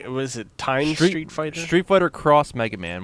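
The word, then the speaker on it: Street Fighter X Mega Man: Street Fighter Cross Mega Man. When you see the X, it is pronounced cross.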